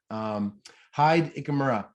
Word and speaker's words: Hide Ichimura: Well, it is my pleasure to have on this week's episode of the Mixtape with, Hide Ichimura. Hide, am I pronouncing it right?